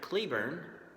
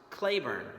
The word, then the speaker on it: Cleburne: we have this individual today it looks like you pronounce his name Patrick Cleburne but during the war it was pronounced clay Verne so really it's Patrick Cleburne next up is this